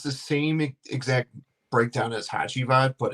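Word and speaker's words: Hacivat: It's the same exact breakdown as Hatchad, but it's Oh, that's how you say it. Hey, tell my I used to say it like this. I used to say Hassat has Havoc.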